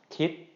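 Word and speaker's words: คิด: And so therefore, this is going to be pronounced as a short, high tone. Kit, kit, kit.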